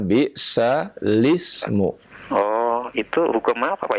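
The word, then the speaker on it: بِئْسَ الِاسْمُ: Tulisannya bisal ismu. Oh iya, betul. Iya ya. Tetapi cara membacanya bisalismu.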